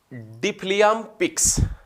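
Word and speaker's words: Deaflympics: वैसे ये इसका गलत लिख रखा है, थोड़ा सा गलत है, इसका उच्चारण भी हम डिफलियाम पिक्स, ये है डिफलियाम पिक्स लागू किया गया था नई खेल नीति के अंदर, जो मूक बधिरों से संबंधित है।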